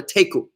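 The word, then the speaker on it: תיקו: You know, like in the game of chess, when you have a stalemate, you call it a teku.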